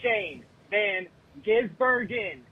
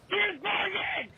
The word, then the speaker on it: Shane van Gisbergen: Sound it the out! It's not that hard to pronounce. Shane Van Gisbergen? That's what you say every time you reference this poor f***ing man. It's not that hard. Sound it out.